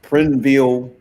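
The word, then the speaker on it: Prineville: what city is that it's spelled it's look like's pronounced prinville Oregon prv p r i NV see what's up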